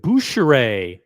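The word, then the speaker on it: Bucherer: forge a relationship with buer that's the French pronunciation the retailer called buer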